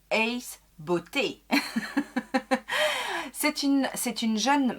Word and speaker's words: Ace Beauté: se posent la question ça se prononce ace beauté c'est une c'est une